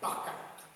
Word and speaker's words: Barka: On le trouve sous forme abrégée, B, R et un C qu'on prononce K, Barka.